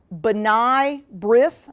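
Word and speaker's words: B'nai B'rith: okay so I apologize I will probably pronounce this wrong B'nai breath i think it's pronounced is a is a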